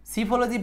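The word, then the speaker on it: psephology: ওয়াই পি এস এখানে সিফলজি পি এর উচ্চারণ সাইলেন্স সিফলজি ফলজিতে পারবেন সমস্যা নাই সিফলজি তারানে নির্বাচন বিজ্ঞান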